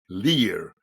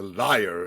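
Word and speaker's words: lyre: mythological story about Nero playing the Lear and not the liar as these foreigners would uh pronounce it um and and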